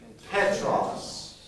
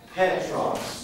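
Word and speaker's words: Πέτρος: The name for Peter is simply Petros. Petros. Not Petros. Watch this. Look at this, class. It's not Petros. What's the name of this letter? Name it for me. Epsilon. Ep. How will you always pronounce it? Epsilon. Ep. So this is not Petros, right?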